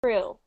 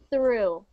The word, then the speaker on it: through: think it sounds like you're saying true true you want it to sound like the same word but change the t to a th like this through where through where through